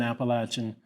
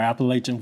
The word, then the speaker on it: Appalachian: She was an Appalachian, or Appalachian, whichever way you want to pronounce it.